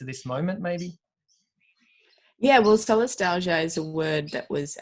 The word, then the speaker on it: Solastalgia: So tell me how to pronounce it. Solastalgia.